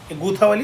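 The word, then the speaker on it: Gulaothi: गूता, ये थोड़ा सा यहाँ देखिए, विजय सिंह पथिक जो भूप Singh revolutionary from the गूथावाली Bulandshahr में, गुवाहाटी गलत प्रोनाउंसिएट कर दिए, गूथावाली बुलंदशहर का है.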